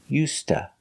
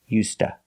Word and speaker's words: used to: cold weather also pronunciation we don't say used to we say used the D is pronounced like a t us and to is pronounced T So together you hear USTA you link the words